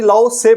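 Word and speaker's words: Lao Tzu: philosopher थे लाउ से टी यहां पर साइलेंट आएगा ठीक है जी लाउ से पढ़ा जाएगा इनको टाइजम रिलीजन है और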